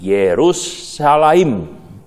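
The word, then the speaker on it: ירושלים: Nah, saudara, akan tetapi dari sisi linguistik atau sisi bahasa, kata Yerusalem itu di dalam bahasa Ibrani diucapkan seperti ini, Yerusalem, yang terbentuk dari dua kata yang berbeda, yaitu yarah, yang artinya mengarahkan, menunjukkan, mengajar, dan mengalirkan.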